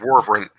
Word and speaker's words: wyvern: And I pronounce it Warvern.